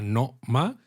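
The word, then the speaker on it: Noma: Tenéis una galería de arte en una antigua casa del periodo Edo, se llama No-ma. Exacto. ¿No? Como el restaurante de Copenhague, pero con 2 sílabas bien diferenciadas.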